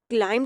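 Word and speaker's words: climb: दीवार पर चढ़ा अब क्लाइम जब हम इसकी पास्ट फॉर्म इस्तेमाल कर रहे हैं तब भी हम इसको क्लाइम नहीं पढ़ रहे हैं क्लाइम पढ़ रहे हैं बी यहां पर भी प्रोनाउंस नहीं करना क्लाइम फर्स्ट फॉर्म क्लाइम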